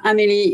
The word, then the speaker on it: Amélie: So I'm Amélie. It's pronounced like in the movie.